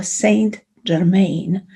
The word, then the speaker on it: Saint Germain: which is violet is saint germain or saint germain if we would like to use the um the english pronunciation saint germain as you